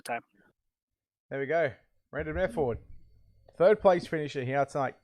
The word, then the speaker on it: Mefford: Mefford. M-E-F. Mefford. Yep. Yeah. Okay. All right. It's so kind of like method with a TH, right? But Mefford. The D on the very end, bud.